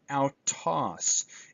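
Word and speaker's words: αὐτός: IKEA means house IKEA ow as in sauerkraut and out toss an important word here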